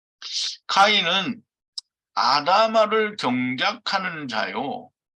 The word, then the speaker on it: 카인: 가인을 제가 이제 카인이라고 이렇게 얘기를 쓰는데요. 다 발음도 카인이죠, 사실은. 카인은 아담아를 경작하는 자요.